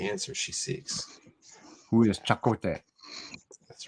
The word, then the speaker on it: Chakotay: Who is Chakotay? That's right. Nice pronunciation.